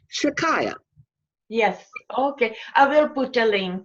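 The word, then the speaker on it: Shechaiyah: S-H-E, like she. Chai, C-H-A-I, which is Hebrew for light or life, okay, and then Y-A-H, Shikaya.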